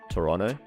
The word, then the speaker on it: Toronto: Wait, is it Toronto that you're not supposed to pronounce the second T? Toronto.